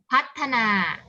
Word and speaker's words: พัฒนา: พอ มา ต่อ มา คำ นี้ อ่าน ว่า อะไร คะ พัฒนา นา เพราะ ว่า พอ ผู้ เฒ่า ตัว นี้ อยู่ ใน แม่ อะไร คะ แม่ กลัว แม่ กก เวลา ที่ เรา สะกด เรา ก็ จะ กด แทน ด้วย ดอเดก ใช่ มั้ย อยู่ ใน แม่ กด เพราะ อะ พัด พัฒนา